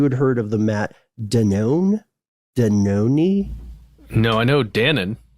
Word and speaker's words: Danone: have to do uh it's a French company it's pronounced Danone oh it's unknown so